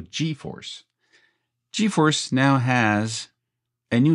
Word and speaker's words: GForce: I never know how to pronounce G or J in English because I'm a French Canadian. Oui, je suis de Montréal, Canadien français. So, G in French is G in English. So GeForce.